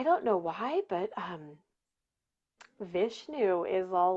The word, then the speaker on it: Vishnu: don't um i don't know why but um vishnu is all like hey hey hey so um